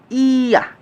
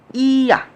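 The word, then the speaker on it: ㅑ: ইয়া। উচ্চারণ কি হবে? ইয়া।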